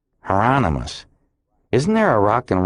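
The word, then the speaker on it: Hieronymus: Heronomous rhymes with anonymous. Heronmous.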